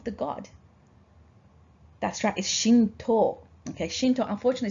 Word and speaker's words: Shinto: a way of the god that's track is Shinto okay Shinto unfortunately spelled with T oh you okay without the ten